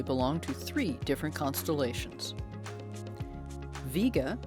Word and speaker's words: Vega: to three different constellations viega sometimes pronounced vega has the brightest apparent